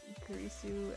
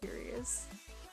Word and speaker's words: Kurisu: But he kept pronouncing Kurisu as Curious.